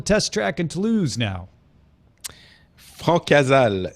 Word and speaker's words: Francazal: Francazal is how you pronounce. Francazal. Francazal, yes, probably.